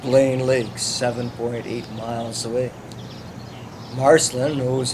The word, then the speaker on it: Marcelin: It's kind of odd that they have anglicized the pronunciation of the town's name, the Marcelin.